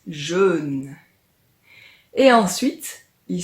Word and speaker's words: jeûne: Ce sont deux mots qui se ressemblent beaucoup, mais le jeûne dont on va parler aujourd'hui se prononce un peu différemment. Écoute, on dit jeûne.